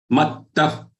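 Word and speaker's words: मत्तः: Mattah paratarannanyat kinchidasti dhananjaya mai sarvamidam protam sutre manigana iva. Very simple. The first word only pay attention. It is mattah. There are two thas.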